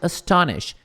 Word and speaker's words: astonished: Quite astonished. Quite quer dizer muito, tá? Astonished é surpresa. Tá muito. Qual era? Tava surpreendida mesmo. Surpresa, né? Aqui também termina com T.